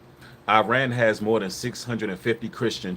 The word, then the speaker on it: Iran: And yes, it's pronounced Iran. Iran. You know, we with this American dialect we have, we say Iran, but it's Iran.